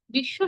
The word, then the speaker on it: বিশ্ব: আমরা কিন্তু বয়ের উচ্চারণ করছি না, আমরা কেউই এখানে বিশ্ব বলি না, আমরা বলি কি বিশ্ব। এই যে বিশ্ব বলছেন, আপনি স কয়বার বলছেন? দুইবার বলছেন। এই দুইবার কেন? শব্দের শেষে ব যুক্ত থাকার কারণে যে ধ্বনির সঙ্গে ব যুক্ত হয়েছে আমরা সেই ধ্বনিকে দুইবার করে উচ্চারণ করি।